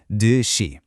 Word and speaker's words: 듯이: It's pronounced 듯이.